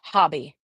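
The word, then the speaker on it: Hobbii: Somebody said Hobie is pronounced hobby.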